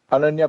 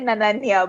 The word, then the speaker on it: Ananya: Ananya Panday. Okay. Why? Because Joy and Asim both can't say her name. Like in English Naya Naya Panda It's Naya Naya Panda. Ananya And like you literally said Nanya, but all right.